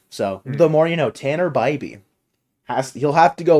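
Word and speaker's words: Tanner Bibee: pronouncing the matchup tomorrow I've been pronouncing his name wrong the entire time it's Tanner BBY yeah I I heard uh Dave say that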